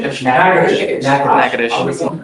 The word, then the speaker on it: Natchitoches: You are wanted out of, Louisiana, Natchitoches Parish. I butchered the pronunciation, but Natchitoches. Yes, What is it? Natchitoches.